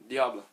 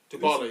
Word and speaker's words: Dybala: Diablo. Dybala. Yeah, Oh. Dybala. I keep saying that name wrong.